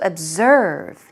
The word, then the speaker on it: observe: look at very closely it's an OB SCR ve but to Z sound so be very cautious don't say absurd it's absurd got it okay moving